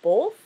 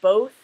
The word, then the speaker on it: both: butcher is the word both um I guess I put an extra l in there it's supposed to be both which to me definitely